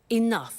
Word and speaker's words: enough: to concerts and exhibitions but she doesn't have enough money now this word enough enough it's written e n o u G H the pronunciation is enough what does it mean let